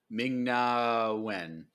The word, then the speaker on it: Ming-Na Wen: Ming-Na Wen, right?